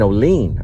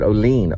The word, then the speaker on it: Olean: I go, "I'm going to Olean." He goes, "No, you mean Olean." I said, Olean, New York.